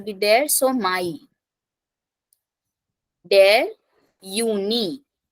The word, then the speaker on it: Juni: Der Juni. So starting from J, pronunciation Y. Juni. Then der Juli.